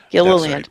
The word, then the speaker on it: Gilliland: How do you pronounce that last name? Gilliland. That's right, that guy.